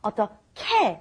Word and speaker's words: 어떻게: And it's written 어떻게, but because we have the H and the G meeting together, we have 어떻게, like a K pronunciation. So we want to say 어떻게.